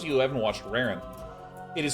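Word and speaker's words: Rarran: But for all of you who are joining from Raren's chat, welcome.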